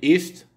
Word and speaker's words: ist: d'au moins deux consonnes, le I de ist est donc bref. Ist, parce qu'il est suivi de deux consonnes, S, T, comme le I de